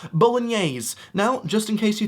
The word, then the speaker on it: bolognese: You might see this and think, that looks like bologna. Well, correct, it does look a little bit like bologna, and it's pronounced bolognese.